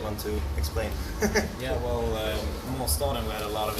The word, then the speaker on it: Måsstaden: Could you tell me how I pronounce that master then? Måsstaden.